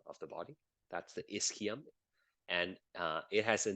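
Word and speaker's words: ischium: is the pubus and then there is the isum that's how you pronounce it okay yeah if you click on the pronunciation it will tell you it's called isum right there so right now I assume you're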